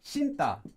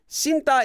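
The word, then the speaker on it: 신다: the next one is shinta and this one also is pronounced as Sinta is wearing anything that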